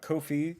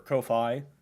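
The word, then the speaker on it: Ko-fi: patreon subscribe star uh Kofi or Kofi um but it was I guess was intended to be pronounced as Kofi uh and buy me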